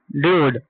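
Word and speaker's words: dude: जैसे देखो डी यू है। यू के बाद एक कंसोनेंट है ना? उसके बाद क्या है? इ है। तो क्या हुआ? डूड। क्या होगा? यू पढ़ रहे है ना? ऊपर है ना? ड्यूड। ड्यूड। इसको क्या पढ़ेंगे? ड्यूड। डूड नहीं। ड्यूड।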